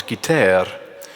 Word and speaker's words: guitare: short, that it requires an affected, Gallicized or Frenchified pronunciation of the word guitar as guitare.